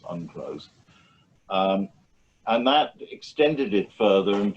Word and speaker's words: UNCLOS: of 1982, which is usually abbreviated, pronounced UNCLOS.